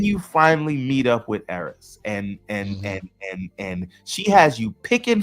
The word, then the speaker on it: Eris: He's not Eris, it's Eris. Eris, whatever her name is. Eris.